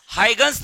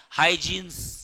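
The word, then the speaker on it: Huygens: झाल्यानंतर नेक्स्ट आहे बाळांनो हायगन्स थेरी ऑफ लाईट कुठली आहे हायगन्स काही काही लोक म्हणतात हायजिन्स स्पेलिंग तहस आहे त्याचं पण वाचायचं हायगन्स काय वाचायचं श्रावणी हायगन्स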